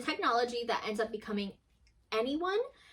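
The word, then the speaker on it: NeOne: And it's a technology that ends up becoming Anyone, but it's spelled N-E-O-N-E, like N-E-1.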